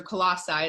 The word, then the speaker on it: Colossae: Okay, so you say that the church in Colossians, or Colossae is how you say it in the sermon, but for us lay people in Colossians, we're trying to put tradition over the words of Christ.